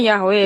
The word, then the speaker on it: Yahweh: merujuk bahwa Tuhannya Musa bernama Yahweh Yod-He-Vav-He, merujuk kalau kepada- kami bacanya Yahweh.